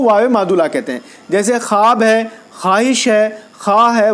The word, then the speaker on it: خواب: ایسا نہیں ہے، بلکہ اس میں واو بھی ہے لیکن وہ واو پڑھا نہیں جاتا ہے۔ تو واو معدولہ اس